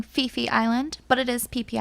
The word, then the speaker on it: Phi Phi: to talk to you about monkey beach on peepee island in thailand yes it is called peepee island all of thailand that kind of made me uncomfortable so i'm saying fifi island but it is pp island they pronounce